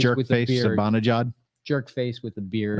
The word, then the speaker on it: Zibanejad: to Zimbalajad. hate. Zimbabwe. I don't know. How do you say his name? Zibanejad. Sabanajad?